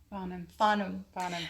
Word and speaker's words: Farnham: How do we pronounce that? Farnham.